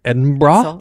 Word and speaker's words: Edinburgh: Pronounced Edinburgh.